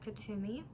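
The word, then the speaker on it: Kuthumi: as i do the ancestor spirit um oh kethumi is actually pronounced katumi good thing i opened this is an ascended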